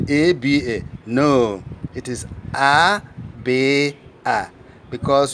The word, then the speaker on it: Aba: We pronounce A, B, Chi, D. So when you are spelling Aba, you don't say A-B-A. You don't say A-B-A.